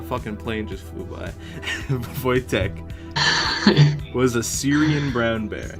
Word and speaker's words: Wojtek: Wojtek was a Syrian brown bear.